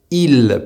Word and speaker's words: il: For elle, the L sound is a little more present, but that depends on how fast you speak.